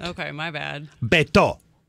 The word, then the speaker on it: Beto: Beto.